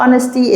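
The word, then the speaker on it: honesty: او يبرهن كلمه اونستي زي ما قلتلك الاتش سايلنت هننطق من اول او اونستي اللي هي الامانه طبعا الواي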